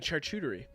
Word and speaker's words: charcuterie: A charcuterie. Mhm. That's the proper way to say it.